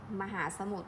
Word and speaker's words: มหาสมุทร: อ่าน ไป เรื่อย ๆ ลอง ดู สมุด มหาสมุทร น้ำ ทะเล พวก นี้ นะ คะ ก็ ไม่ ออก เสียง รอ เรือ เห็น ไหม คะ ทอ